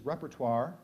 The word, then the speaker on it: repertoire: reper repertoire repertoire the the primary pronunciation is repertoire it can also be